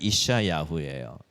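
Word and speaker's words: ישעיהו: 영어로는 어떻게 발음할까요? 아이자야라고 발음해요. 히브리어는 이샤야후예요.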